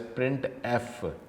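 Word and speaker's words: printf: यूज to display output it is pronounce as प्रिंट एफ syntax क्या है प्रिंट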